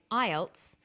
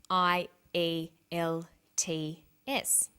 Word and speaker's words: IELTS: acronym with an acronym we don't pronounce the individual letters we pronounce it as a word so we say IELTS not I a L T s some other examples of